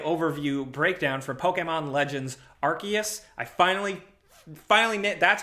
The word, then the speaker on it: Arceus: Also, along with that, we have a big gameplay overview breakdown for Pokemon Legends Arceus.